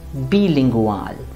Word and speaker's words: bilingual: but in german it is going to be bilingual repeat after me bilingual let's take another example